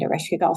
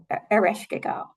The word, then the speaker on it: Ereshkigal: Ereshkigal. Yeah. Ereshkigal. Yeah. I like to say her name in a really guttural kind of like Ereshkigal. kind of like, like coming out of like some deep cave somewhere and just kind of